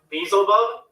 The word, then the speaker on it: Beelzebub: Beelzebub is down here right now. Yeah, actually, that's how it's Hurry.